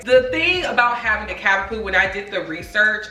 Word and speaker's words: Cavapoo: C I've been saying it wrong. I be saying Cavaoo all the time. It's really Cavapoo. Okay. because it's a cavalier king spananiel mixed with poodle. Okay, so cavapoo y'all.